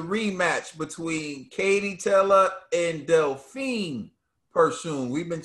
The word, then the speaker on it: Delfine Persoon: reaction to the rematch between katie teller and delphine pursuing we've been saying they'll find but it's pronounced delphine pursuing the rematch uh trill dog bill what were